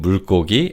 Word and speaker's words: 물고기: So that's the key difference between 물고기 and 생선. In terms of pronunciation, this word 물고기 is pronounced as 물고기.